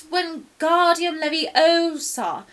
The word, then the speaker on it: Wingardium Leviosa: saying it wrong it's Harry Hermione snap its Wingardium Leviosa make the girl nice and long but you